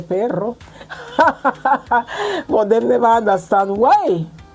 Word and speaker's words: perro: I used to say pero, I never used to say perro, but they never understand why.